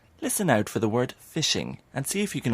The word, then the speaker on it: phishing: Did you hear the word phishing? It's spelled differently to how you might expect it to be.